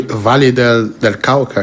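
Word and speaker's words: Valle del Cauca: É a Vale del Cauca? Como é que é a pronúncia?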